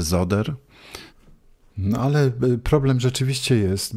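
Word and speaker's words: Söder: naszych mediach najprawdopodobniej Marcus soder Marcus No jak gdyby ktoś wiedział że w niemieckim s wymawiane jest jako z No to może z other No ale problem rzeczywiście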